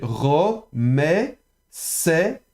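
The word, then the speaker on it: רֹמֶשׂ: On a cette fois-ci le sin, attention, vous avez le shin, la lettre ici, cette fois-ci avec le point à gauche, donc c'est prononcé comme un samer, donc un S. Donc vous avez ro, me, set, romeset, d'accord?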